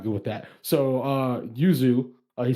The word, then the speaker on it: Yuzu: her name again uh usually usually you just say uzu if you want but usually i'm gonna say yuzu because like yeah you're boy not good with that so uh yuzu uh he said uh